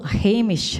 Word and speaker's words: Hamish: that changes to hello Hamish because sh in Gaelic is silent so it's a Hamish and you've probably heard the